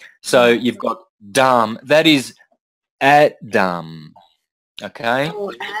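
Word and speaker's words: dhama: you don't pronounce the you don't pronounce the last a so you've got dumb that is at dumb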